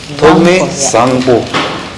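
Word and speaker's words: Thokmey Zangpo: Togme Sangpo. The Z is not pronounced as Z, it is pronounced as Sa.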